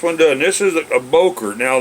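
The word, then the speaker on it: Böker: done this is a bokor now the way the germans pronounce it is bucher or something like that you know some people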